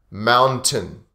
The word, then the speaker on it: mountain: But often the t is silent in this word when we speak naturally and fast.